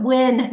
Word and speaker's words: Nguyen: you pronounce your name I pronounce it when no n you pronounce it when